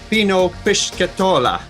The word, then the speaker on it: Pino Pischetola: I want to introduce you to Mr. Pino Pischetola. Did I say it right? Yes, right. Yeah, very good. Better than my teachers at school.